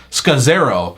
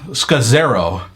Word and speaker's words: Scazzero: His name is Pete Scazzero. So it's a very Italian name, Scazzero, if I'm pronouncing it correctly.